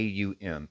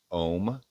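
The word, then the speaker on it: Aum: And you have some I've heard two different pronunciations from two different reliable Sanskrit scholars, right? One of them says it's om and the other one says it's um so because it's it's spelled a u m.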